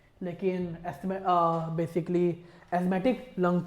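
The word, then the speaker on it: asthma: देखिए बच्चों, इसकी correct pronunciation is नॉट एस्थमा, इसकी प्रोनाउंसिएशन होती है एस्थमा।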